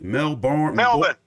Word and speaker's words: Melbourne: Oh, wait, how do you pronounce it, BJ? Melbourne, Melbourne.